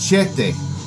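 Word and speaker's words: Chthe'ilist: up, but this is, it's pronounced Chete.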